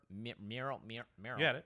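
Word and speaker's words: Merrow: I never know how to pronounce this. Regery? Mirror Regery, yeah. Marrow.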